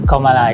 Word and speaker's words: Kamala: Kamala, pronounced as Kamala, did it Kamala's Way.